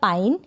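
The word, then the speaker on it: pine: ई को हम प्रोनाउंस नहीं करेंगे और ई से पहले जो भी लेटर आ रहा है, यानी एन आ रहा है, यहाँ पर टी आ रहा है, तो इनका उच्चारण हम थोड़ा लंबा कर देंगे।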